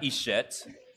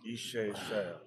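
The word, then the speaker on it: Eshet Chayil: So the T is silent. Yes. So it's kind of like Creole. Like it's silent. So she since you got talking to Mike, talking to Mike. It's not Creole. It's not Ishet. For Ichet is something. Ishe. Shalom. Yep. Good. Ishe. Shea. You don't pronounce the T.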